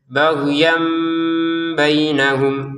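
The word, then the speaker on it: بَغْيًا بَيْنَهُمْ: Nah, ini ada tanwin, ada ba di depannya, maka tanwinnya diubah menjadi mim sukun sehingga cara bacanya baghyan bainahum gitu ya.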